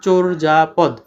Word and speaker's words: চর্যাপদ: তারপর হচ্ছে কি চর্যাপদ আর এটার উচ্চারণ কি হবে চরজাপদ হ্যা র নিচে আর